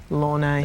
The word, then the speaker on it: Lorne: And you worked with Nick Lorre on that, right? Is that how his name's pronounced? What's that? Lorne. Lorne, right.